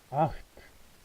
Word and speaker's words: acht: 그 다음 8은 Acht. 자, 요거 흐 발음이죠. 왜냐하면 앞에 모음 아가 왔기 때문에 Acht.